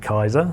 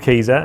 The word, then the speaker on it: Kieser: The first stumbling block I get with everyone is pronouncing it Kaiser, but it is called Kieser, and it's named after Werner Kieser, who was the initial brains behind the company.